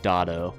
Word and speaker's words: Dotto: Don't get it twisted, it's pronounced Dotto.